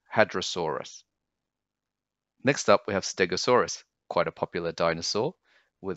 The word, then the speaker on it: Stegosaurus: Next up, we have Stegosaurus, quite a popular dinosaur with all its spikes. Again, four syllables, steg, o, saw, us. So quickly, Stegosaurus.